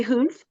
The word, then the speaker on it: Huff: Oh, so it's Huff, but it's pronounced Huff. It's pronounced Hoof, and she just had a historical fiction book to come out in February.